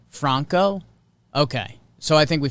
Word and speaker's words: Franco: this wander talking about wander last name is pronounced like michael franco franco okay so i think we figured it bronco